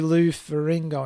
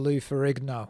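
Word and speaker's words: Lou Ferrigno: So, you you say Lou Faringo instead of Lou Farerigno.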